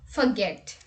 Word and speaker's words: forget: in our list is forget here in this word the stress is on get and many people pronounce